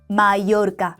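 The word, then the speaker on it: Mallorca: 에예라고 발음하고 한국어의 야,요 유 요런 소리를 낸다고 보면 됩니다.요 단어 한번 읽어 볼까요? 맞아요. 마이요르까 한국인들한테 되게 인기 있는 관광지인데 잘 보면은 에a요 요렇게 철자가 쓰여져 있죠.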